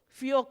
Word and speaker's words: fjord: Fjord coast. You are pronouncing me.